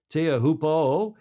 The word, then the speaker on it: Teahupo'o: on the Tahitian beach of, how do you pronounce that? Teahupo'o.